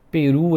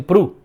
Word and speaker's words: peru: Peru em português, do Brasil, peru, P-E-R-U, peru, a ave peru, a carne de peru. Mas os portugueses pronunciam pru. É como se fosse P-R-U, pru. Então é como se os portugueses colocassem um Shiva debaixo da letra P para falar assim, ó, essa vogal é extremamente curta.